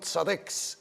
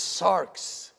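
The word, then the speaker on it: σάρξ: And sarx is not sarex, it is sarx. There is no vowel between the R and the X. It's sarx, not sarex.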